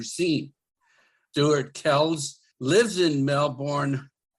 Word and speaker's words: Melbourne: Stuart Kells lives in Melbourne. Melbourne or Melbourne? Melburnians pronounce it Melbourne. Melbourne. Okay. Yeah. Okay for North Americans to say Melbourne. We're used to it.